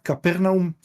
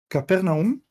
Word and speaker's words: Capernaum: Eh, Eliaar, si podés poner la imagen primera del PowerPoint, eh, Capernaum, eh, que en hebreo se pronunciafar Nahum, pero no voy a obligar a nadie tratar de pronunciarlo en hebreo.